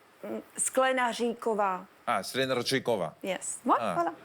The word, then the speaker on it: Sklenaříková: votre nom de jeune fille est en fait Skleranikova. Non, forcément c'est bien écrit. Et vous lisez mal, tout le monde lit mal. Ouais. Je sais pas. Ça se dit comment? Skleranikova. Non, Sklenaříková.